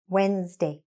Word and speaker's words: Wednesday: When we did the two things, we backchained it, plus we wrote it phonetically. We wrote what we should actually be saying. Day, Wednesday. Good.